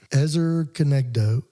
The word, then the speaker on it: Ezer Kenegdo: Ezer Kenegdo.